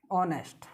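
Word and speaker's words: honest: देखना जैसे एक शब्द है ऑनेस्ट, क्या है, ऑनेस्ट।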